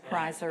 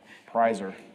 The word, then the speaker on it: Pressler: Presser Street. How do you say that? Prizer. Prizer, sorry, Prizer. I don't know. Prizer.